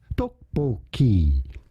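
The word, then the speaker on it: 떡볶이: insensitivity for the record I looked up the pronunciation to get it right and here it is straight from the YouTube translate guy duckboy on top of that duckboy is a Brilliant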